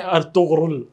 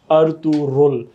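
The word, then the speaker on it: Ertuğrul: I think इसकी correct pronunciation, ये Turkish मैं नहीं सिखा रहा, लेकिन आई थिंक इसकी करेक्ट प्रोनाउंसिएशन है अर्तुरुल। उसमें जो गैन है अर्तुगरुल वो नहीं है।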